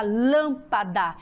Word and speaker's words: lâmpada: Lã de lâmpada, rá de rápido, pol de pólvora.